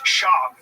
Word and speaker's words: Schaub: Where's Brendan Schwab from? It's Schaub.